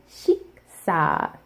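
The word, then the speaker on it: 식사: So, for example, the word shiksa, like a meal, shiksa, you can see before the e sound, sh, and before the ah sound, s, so shiksa.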